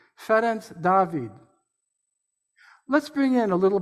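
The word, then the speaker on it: Ferenc Dávid: We American Unitarians know that name as Francis David. I will refer to him by using the Hungarian pronunciation, Ferenc David.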